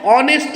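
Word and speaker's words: honest: करेंगे जैसे यहां देखो ऑनेस्ट मैन ऑनेस्ट मैन में एच ऑनेस्ट की जो स्पेलिंग है एच से बिगिन हुई है एच से स्टार्ट हुई है लेकिन एच इसमें साइलेंट होगा और इसका उच्चारण ऑनेस्ट बन ओ ओ तो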